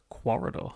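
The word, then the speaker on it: Quoridor: It's Corridor. Corridor, is that what we're going? Corridor. Corridor. If you want to spell it that way. Yeah. It does have a weird spelling.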